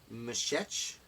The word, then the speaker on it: Meshech: can't pronounce this name it's Emmie sh e CH I believe it's Meshech we're Meshech we're who